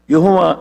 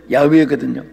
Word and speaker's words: 야훼: 그런데 우리 한국말로 여호와 이렇게도 또 발음을 하고 하는데 이름은 야훼거든요.